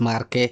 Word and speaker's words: Marquette: But it's Marquette, it's not Marquette, yeah, right? Marquette is a English pronunciation. It's Marquette, it's French.